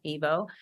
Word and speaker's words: Ivo: The Evo, and it's spelled DA and then another word IVO, Evo.